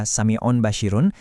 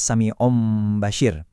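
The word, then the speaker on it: سَمِيعٌ بَصِيرٌ: Di baris pertama kita enggak baca samiun basyirun, tapi akhiran n itu kita switch jadi m yang disamarkan. jadinya samium basyir.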